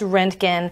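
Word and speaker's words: Roentgen: So it's pronounced Rentgen.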